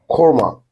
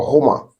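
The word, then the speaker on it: Hormah: He called the name of the place Korma or Homa. Anyone you can pronounce.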